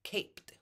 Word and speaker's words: caped: he's no longer naked now we go from naked to caped with the T sound eating another cookie totally